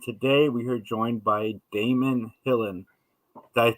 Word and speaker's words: Daemon Hillin: It's and, and today we are joined by Daemon Hillin. Did I pronounce that correctly?